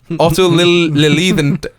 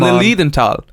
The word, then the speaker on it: Lilienthal: The Wright brothers were closely following the research of a German flight man called Otto Lilienthal. I don't know, Evan. You can pronounce this. I can't. Lilienthal.